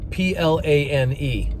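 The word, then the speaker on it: πλάνη: The Greeks pronounce it plane, and we pronounce it in English plane. Just like the Greeks pronounce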